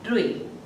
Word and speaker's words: ऋ: इसका उच्चारण कैसे होता है? री। कैसे होता है? री होता है।